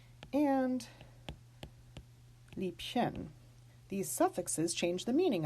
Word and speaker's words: Liebchen: So we are going to actually pronounce these B's like they are final in the word. Lieblich and Liebchen.